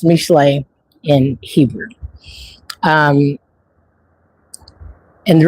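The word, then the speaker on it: משלי: Okay, so we started every chapter with just the first six verses of Proverbs, which is pronounced Mishlei in Hebrew.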